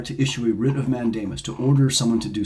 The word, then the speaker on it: mandamus: Supreme Court May issue a writ of mandamus sometimes pronounced mandemus a writ of mandamus